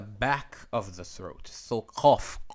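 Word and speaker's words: ק: Qaf is different than Kaf. Khaf. Notice the pronunciation is different. Qaf. Qal. Okay, it's all the way at the back of the throat. Like the cawing of a crow.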